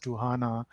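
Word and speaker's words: Ktunaxa: a tribe called tuhana this word k-t-u-n-e-x-a actually pronounces tuhana in their native language and after that we'll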